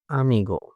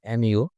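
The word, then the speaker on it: amigo: হচ্ছে হ্যালো তারপরেরটা হচ্ছে আমিগো এটা আমিগো নট এমিগো এটা হচ্ছে আমিগো মানে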